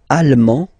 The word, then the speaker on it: allemand: L'Allemagne, allemand, allemande. Okay, same thing here. Okay, you don't pronounce the final D, but then you pronounce it here for the feminine form.